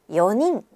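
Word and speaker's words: 四人: 2명 후다리 3명 산닝 4명 연인 이때 4명을 연닝이라고 발음하지 않도록 주의해 주세요 스미마셍 저기요 미안합니다 실례합니다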